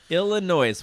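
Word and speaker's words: Illinoise: hers next up Illinois Illinois which is funny because you think I'm pronouncing it wrong but no it's n o i s e yeah it's Illinois um I don't know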